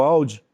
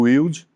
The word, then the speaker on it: Wilde: Na verdade, a pronúncia é o Alde, mas quase ninguém pronuncia, fica como se lê, né, como se escreve, Sim. o Wilde.